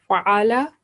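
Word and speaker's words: فَعَلَ: For example, fa'ala, we give this fa, la, just 1 second, and it means he did, while a slight prolongation of last letter would be pronounced as fa'ala, which means they both did.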